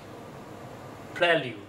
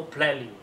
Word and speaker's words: prelude: It says, for British English, prelude. American English, also prelude. Then we listen to the online recording, which gives the first syllable as pre, and the second syllable as lude.